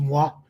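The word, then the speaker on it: Mgła: us, but in Polish it's called it's it's pronounced MUA, which means fog.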